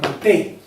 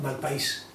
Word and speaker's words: Malpaís: aquí en el mapa le llamaban Malpey? ¿Esto es nombre español? Y digo, escríbemelo como se escribe. Y yo, Malpaís.